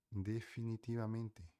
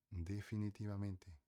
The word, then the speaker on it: definitivamente: Definitivamente definitivamente definitivamente tá a diferença no jeito de se falar tanto V quanto t, tá?